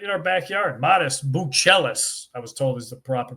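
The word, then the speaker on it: Matas Buzelis: we're gonna stick uh right in our backyard modest Bellis was told is the proper pronun pronunciation uh modest slow start to the season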